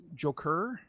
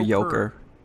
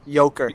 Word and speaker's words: Yoker: the horses listening anyway mr. Joker it's French let's uh it's Joker ok was I was mispronouncing it it's French for yoker yeah yoker you're correct oak Oh mister mister